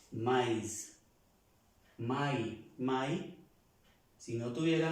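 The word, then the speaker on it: maïs: una y normal por eso esta palabra se pronuncia mais my my si no tuviera la extrema se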